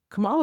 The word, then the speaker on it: Kamala: And I was like, Kamala was still at her height. Like, did I say Kamala?